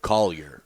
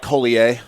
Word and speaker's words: Collier: collier collier and it so it's never like colier no dude like it's a montreal comedy festival and they're like i'm like dude you're not even trying no no i mean it's collier like i'm scottish okay